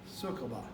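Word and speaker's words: Sucaba: I want to say Sukaba, but I understand from what I found online that the head brewer, Matt Brendelson, pronounces it Sukaba, S-U-C-A-B-A, which is actually, how it's spelled.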